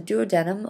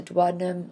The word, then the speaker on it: duodenum: So the duodenum, also called the duodenum or the duodenum, it's up to you how you'd like to pronounce it, most digestion occurs here.